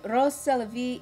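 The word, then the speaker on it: Rrose Sélavy: If you say Rose Célévy in French, it sounds like Eros Célévy, which just translates to love that's life.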